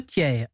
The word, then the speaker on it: Thiers: t à ce prix on dit donc tiers parce qu'on n'entend pas le tiers c'est comme la prononciation resituant latin faut pas charrier adolphe thiers cfa non tiers alors après la mort